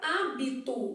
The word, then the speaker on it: hábito: cinco que fonemas beleza na palavra hábito o que que tá acontecendo o h não é pronunciado então a gente também